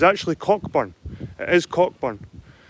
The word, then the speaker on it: Cockburn: on it and I'm near a place called cockburn's path down the Scottish borders there's more more